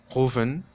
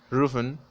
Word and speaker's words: rufen: Esta palabra se puede pronunciar con los tres sonidos de la R. Con R francesa, rufen. Con R española menos intensa, rufen. Y con R española, rufen.